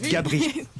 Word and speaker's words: Gabris: Et on pourrait ne pas prononcer le S Bravo, à la fin. vas-y. Charlotte Gabris.